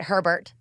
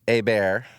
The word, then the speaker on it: Hebert: Do people ever pronounce it Herbert? Herbert, Sherbert, Schubert, Hebert. It's Hebert. That's how they say it in Louisiana.